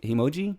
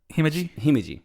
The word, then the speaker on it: Himeji: How do you say Himoji? Himeji.